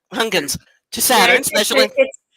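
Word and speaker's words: Huygens: I get that pronounce hungun to Saturn speci it's dutch so it's like deep in the throat okay a mission to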